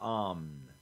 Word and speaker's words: Amn: In Faerun, what is the name for the anonymous group that rules the nation of Amn? Possibly pronounced Amn.